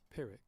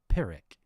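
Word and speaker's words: Pyrrhic: How do you even pronounce that? Pirick. Pirick. Pirick. Pirick. Pirick.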